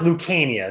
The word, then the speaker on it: Lucania: luciana lucania lucania um it's pronounced lukania so it's the c is a hard c it sounds like a k um but my grandfather's